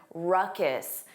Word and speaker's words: ruckus: Notice that pronunciation. Ruckus. The N sound is unstressed.